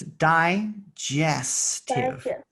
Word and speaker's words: digestive: gas that g e g e g i and g y make the soft g sound so it's digestive digestive system heals off any